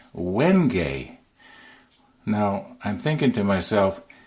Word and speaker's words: wenge: II and in my mind I was saying when JH but I wasn't sure so I didn't actually even try but it's actually pronounced wenge no I'm thinking to myself if I didn't